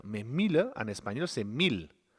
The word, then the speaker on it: mil: Mais 1000, en espagnol, c'est 1000. Attention à la prononciation, je ne dis pas mille, je dis 1000. M-I-L.